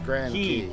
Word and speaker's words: Grand Cay: How do you say it? Key or Grand K? Cay. Grand Key.